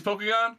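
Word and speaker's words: Pokagon: how you pronounce it Pokemon like Bakugan yes Pokemon it's Pokemon cool yeah it's a it's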